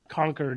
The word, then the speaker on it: Concord: Like one thing I noticed in radio spots, conquered is our capital in New Hampshire. And so if somebody says Concord, I know right away that whoever wrote that ad is not from this area.